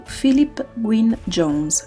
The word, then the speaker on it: Philip Gwynne Jones: Today, I will be talking to Philip Gwynne Jones, renowned Welsh author of mystery and suspense novels living in Venice.